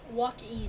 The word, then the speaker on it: Joaquin: I apologize, but It's Joaquin. really good one. Yeah, I'm. Joaquin. This have It's like walking without the G.